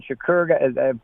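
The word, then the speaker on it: Shakir: number two that stretched the field especially when Shakur that's how his name's pronounced got hurt uh basically they just they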